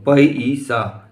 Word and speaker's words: पैसा: जैसे पैसा, पै, तो किस में चेंज हो जाएगा, ईसा, ऐ में, है ना, अ ई में चेंज हो जाएगा। तो पै ईसा, ये उच्चारण में है